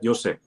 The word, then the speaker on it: Jussi: something, and help me welcome on today's guest, Jussi. Did I pronounce that right? Yeah, Jussi.